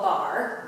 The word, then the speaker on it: barre: but it's called bar. Bar. It's spelled B-A-R-R-E, but pronounced bar, French.